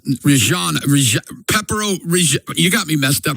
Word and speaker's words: Reggiano: And you ever had the Parmesan how do you say it? Rigani? It's Reggiano.